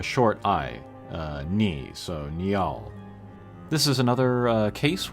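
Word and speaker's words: Niall: eye uh ni so Neal this is another uh case where the two vowels together are pronounced separately I personally think neol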